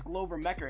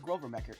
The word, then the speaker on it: Glover Mecker: He's really fallen off the radar since Glover Mecker ended. I thought it was Grover Mecker. I've been saying it wrong the whole time.